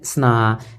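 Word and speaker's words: Sana: होंगे देखिए अनीता एंड स्ना एस ए एन ए स्ना अनीता एंड सना H silent है क्या पढ़ जाएगा सना अनीता एंड सना जो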